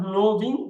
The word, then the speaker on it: knowing: at that knowing not knowing knowing the W is silent here the K is also sign here knowing knowing knowing video nose